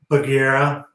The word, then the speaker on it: Bagheera: what I go by pronunciation Bagheera it's the uh in The Jungle Book the Black Panther from The Jungle Book the old Disney